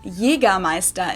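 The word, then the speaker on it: Jägermeister: way Jagermeister the whole this is pronounced yiga maesta in German Jagermeister English speakers usually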